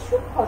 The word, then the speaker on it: সূক্ষ্ম: তাইলে আমরা শব্দের শুরুতে বা শেষে যদি যুক্ত ব্যঞ্জন বর্ণ থাকে এবং যুক্ত ব্যঞ্জন বর্ণের সাথে যদি মফলা যুক্ত থাকে তাহলে সেই মফলার উচ্চারণ হয় না।